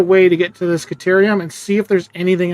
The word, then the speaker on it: Caterium: So maybe I should be trying to find a way to get to this Caterium and see if there's anything else up here.